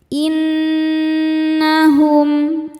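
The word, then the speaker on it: إنهم: Nun gunnahnya dihukumi gunnah musyaddadah karena nun bertasydid. Cara bacanya berdengung, tahan dengungannya kurang lebih 2 harokat. Innahum, hum ada hukum izhar syafawi karena ada mim sukun yang menghadapi huruf selain mim dan ba. Di sini hurufnya adalah huruf kaf. Cara bacanya mim sukun dibaca jelas.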